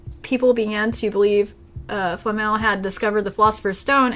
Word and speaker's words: Flamel: that's cool for one Nicholas Flamel I think that's how you say it flammal Flamel in Harry